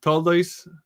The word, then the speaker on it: Toldos: This week we read the Toldos, Toldot, in the Sephardi pronunciation.